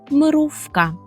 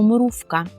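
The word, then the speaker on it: mrówka: це мурашка попольску то мрувка мрувка Зверніть увагу що буква ву так вимовля ється у цьому слові як ф Ми кажемо мруфка мрувка гараз як ми скажемо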